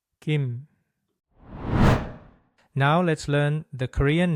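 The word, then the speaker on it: 김: Since M comes at the end, we start with the gi sound and finish by closing the lips and vibrating the vocal cords, just like in English. Kim. Kim.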